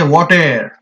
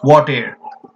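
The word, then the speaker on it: whate'er: case of this word we don't call it whatever we say what air in two syllables it should be pronounced what air an expert is melancholy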